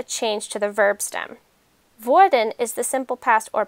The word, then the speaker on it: Würde: The U umlaut of Wurde is formed by rounding and puckering your lips, just like you're giving your grandma a kiss.